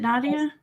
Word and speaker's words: Nadia: hear me yes now am I saying your name correctly is it Nadia yeah okay perfect I'm always worried